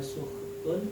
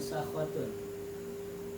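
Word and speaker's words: سخط: Itu sukut itu ada dua qiraat. Ada yang membacanya suhtun, ada yang membacanya sakhotun. Ya, boleh dibaca sakhot, boleh dibaca sukut.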